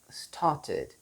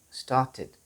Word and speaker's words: started: አንደኛው መንገድ እሱ ነው። ሁለተኛው start, started, started. id የሚል ድምፅ አለ አይደል? tid, id. So there is a short I in between the t sound and the d sound. Yes, tid, started.